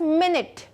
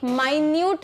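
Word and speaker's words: minute: Next है आपके पास मिनट। अब इसके दो प्रोनाउंसिएशंस होते हैं, ठीक है। एक माइन्यूट भी होता है। माइन्यूट, माइन्यूट मतलब बहुत छोटी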